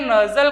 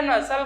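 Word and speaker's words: nasal: Inferior नजल कहो या नसल कहो, हिंदी में और इंग्लिश में प्रोनाउंसिएशन थोड़ा फर्क रहता है, ठीक है ना।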